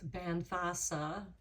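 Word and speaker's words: bean feasa: So, Bean Fisa, the wise woman, the Bean Fisa, pronounce Banthasa. So, I'll pronounce that correctly.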